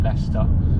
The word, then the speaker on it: Leicester: And Launceston is spelled a little bit like Leicester, in that there's a C and an E in there that you don't pronounce.